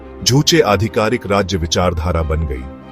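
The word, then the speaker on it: 주체: North Korea की राजनीतिक और सामाजिक व्यवस्था के बिल्कुल केंद्र में एक विचार है जिसे जूचे कहते हैं, जिसका उच्चारण जूचे किया जाता है।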